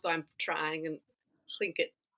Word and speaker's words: Tlingit: And I can't pronounce it, the way it's supposed to be pronounced, but I'm trying. And Tlingit. Tlingit.